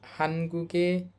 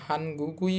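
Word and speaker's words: 한국의: প্রথম শব্দটা খেয়াল করেন এটার উচ্চারণ কিন্তু হানগুই বলবো না আমরা এটার উচ্চারণ হবে হান গুগে কেন শেষে খেয়াল করেন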